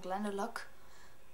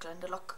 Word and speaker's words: Glendalough: man es ausspricht, aber unser Guide hat auch immer gesagt Glendalough, also ja, wird es wahrscheinlich Glendalough ausgesprochen. Dann sind wir noch ein